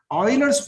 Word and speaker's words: Euler: 9th class में कि ऑयलर्स formula, EULERS, ऑयलर्स formula, spelling थोड़ा ऐसा है, प्रोनाउंसिएशन उसका ऑयलर है, ऑयल में ऑयलर कैसा बोलते हैं, EULERS को ऑयलर्स फॉर्मूला, ऑयलर प्रोनाउंस करते हैं उसको, ऑयलर्स फॉर्मूला।